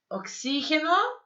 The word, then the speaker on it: oxígeno: Oxígeno, análisis e exército. É assim que se fala em espanhol, oxígeno, tá? Por isso que tem um acento aí, a sílaba forte é o x, né?